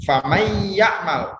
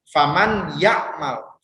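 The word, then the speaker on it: فمن يعمل: Nah, nun matinya itu seperti tidak ada. Jadi bukan seperti idhar yang dibaca jelas. Kalau idhar kan bacanya kalau misalnya jelas menjadi seperti ini ya. Faman yakmal, faman yakmal. Nah, itu idhar. Tapi kalau misalnya idgham, karena ya itu bukan huruf idhar tapi huruf idgham, maka cara bacanya itu famay ya'mal, famay ya'mal.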